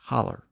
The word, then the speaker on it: hollow: a valley of course some rural American dialects pronounce it as a holler lastly the passage says